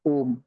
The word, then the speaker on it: ओम: तो उसका जो बीज मंत्र है वो ओम ही है, बट उसको उच्चारण करते वक्त आ उ और म इन तीनों को एक साथ अलग अलग डिवाइड करके उच्चारण करना है, मैं आपको बताऊंगा।